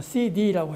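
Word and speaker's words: 西递: 그런데 그 부근에 굉촌, 서재, 중국 발음으로는 CD라고 해요. CD, 컴팩트 디스크처럼 CD라고 해요. 굉촌이나 그 다음에 서재나 무원 같은 도시, 제가 지금 시간이 다 돼서 보여드리고 싶어도 여러분들 못 보여드려요.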